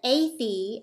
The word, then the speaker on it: Athey: And if you listen, Athey and Fadley have the same sound at the end of their name, that E sound.